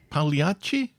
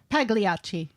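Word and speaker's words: Pagliacci: And good effort for Helen pronouncing Paliachi. Pagliachi. The G is silent like in Dev's favorite lasagna.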